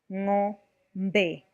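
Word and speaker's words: ng'ombe: Pronouncing NG with an apostrophe, the back of the tongue touches the back of the palate. Example, ngombe.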